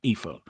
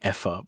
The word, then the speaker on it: Aoife: It's like Eva but with an F, Aoife. Aoife. So you'd Yeah. spell it like E-S. Yeah. Yeah, Aoife. Yeah. Yeah. Double E-F-A. Yeah, it's fine. I keep saying Effa, but yeah, Aoife.